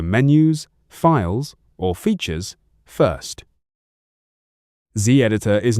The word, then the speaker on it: Zditor: Open Z editor, pronounced Z editor.